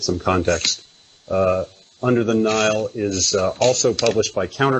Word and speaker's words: Nihil: that's called this but pronounced the same as Nile like so what is